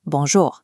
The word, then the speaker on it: bonjour: The most effective input is an instant flat Quebecois bonjour. Keep the second syllable short and clipped.